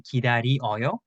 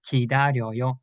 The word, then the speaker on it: 기다려요: There are some people that can write and say 기다리어요. That's also correct, but usually Koreans usually say 기다려요 like 여.